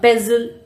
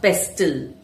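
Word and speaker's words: pestle: In the kitchen, you use a pezle to grind spices, not pestl. And on your bed, you may have a soft duet, a soft quilt. Notice one thing. When t comes in between n or s sounds, it often disappears.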